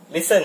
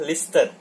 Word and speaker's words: listen: Listen ya, dibaca listen, tidak dibaca listed. Bunyi t di sini itu tidak kita produksi. Kita hanya membacanya listen, bukan listen.